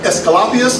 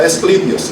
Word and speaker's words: Asclepius: Imhotep, in the Hippocratic Oath, which is named after Hippocrates, in the Hippocratic Oath, they pay homage to God Asclepius or Asclepius. I've heard it pronounced both ways.